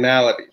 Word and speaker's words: Malaty: mine because you you introduced me as ryan maloney and that's the way that i i we used to pronounce my name back in the day it has since changed and this is i